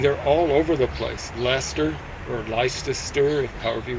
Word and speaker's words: Leicester: Leicester or Leices- ter, however you want to mispronounce it.